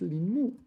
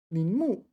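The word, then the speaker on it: 临摹: What is Lin Mo? This is tracing, is it? Linu. That's not a moo. That's a mo.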